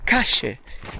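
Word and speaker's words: calle: si capce veramente poco perché la W L e la Y in Argentina si pronunciano come J. Quindi per esempio questa è la strada, la Cal, qua dicono cashe, questa è la cas, la cas, la cas.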